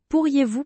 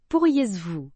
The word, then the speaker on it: pourriez-vous: Et la liaison entre pourriez et vous, on dit pourriez-vous et non, pourriez vous.